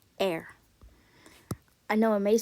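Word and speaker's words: Р: not in English P it's pronounced air I know it may sound like I'm saying the word air meaning in oxygen but no it's actually it's actually the way you're supposed to say it air I know it may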